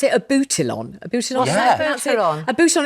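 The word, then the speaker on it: Abutilon: I was terribly proud of my, I don't know, how do you pronounce it? A boutilon.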